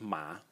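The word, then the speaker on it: 马: the semantic element this part over here it's pronounced ma ma and it's a horse horse so this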